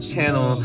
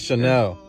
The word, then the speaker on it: Chanel: See both eyes like channel. See both eyes like channel. Bruh, it's Chanel.